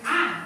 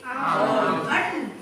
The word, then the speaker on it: aunt: Jadi pengucapan bibi itu jangan an ya. Kalau an itu semut, tapi kalau bibi itu apa tadi? On. Ya, my on. Bukan an.